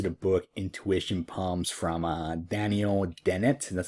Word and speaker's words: Daniel Dennett: All right, so this is a reference to the book Intuition Palms from Daniel Dennett.